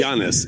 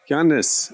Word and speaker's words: Giannis: it in a sentence g i a n n i s G jannis he's Greek he's Greek jannis a I can't say